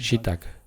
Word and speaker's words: gzhi bdag: Und es wird Shibdak ausgesprochen. Wir sprechen das B aus.